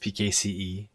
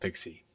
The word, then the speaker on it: PKCE: just went through and it's not pronounced pkce it's pronounced pixie just FYI I'm gonna